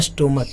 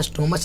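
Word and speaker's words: stomach: स्टोमक इसको स्टोमस नहीं पढ़िएगा। स्टोमक इसको उच्चारण में का के आता है।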